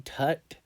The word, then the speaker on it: Tut: What about, okay, this priest worked for King Tut, whose name rhymes with butt.